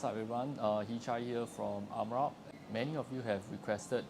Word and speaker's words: Merach: How do you pronounce it? Merach.